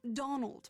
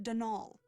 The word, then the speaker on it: Donal: the caretaker Donald Delaney not Donald mind you there's no D at the end so it's pronounced danal that's the way you're